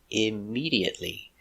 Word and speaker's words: immediately: Five syllables. Immediately. Stress on a second syllable.